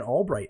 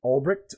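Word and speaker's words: Ulbricht: people who don't know who when albright is or Albrecht I think some people who say that is how you say it I've always called it Albright but her son was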